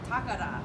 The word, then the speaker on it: Takara: We found out finally how to pronounce name, and it's actually Takara. So you say Takara.